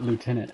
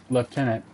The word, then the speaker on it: lieutenant: or left in it how does some of the British say I never knew that to him I don't know not long ago that when the British say leftenant it's the same thing as lieutenant just a different name that's all all right